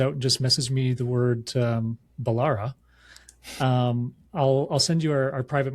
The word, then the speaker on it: Balara: And it's Balara. It's spelled exactly like it sounds.